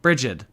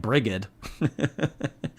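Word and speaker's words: Brigid: right I love you bridgid bridgid well see like how how because y y'all probably thought I would pronounce that like briged it looks like briged I don't butcher everybody's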